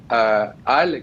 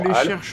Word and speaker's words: HAL: Donc si on prononce en anglais, on dit souvent HAL, mais bon voilà. En français, le H est très muet. Le HAL, c'est vraiment extraordinaire en